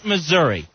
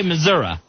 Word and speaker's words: Missouri: What's it end with? Because they'll say Missouri. Yeah, I like... An I. It ends with an I. They'll end it with an A in the pronunciation. Yeah. Missouri.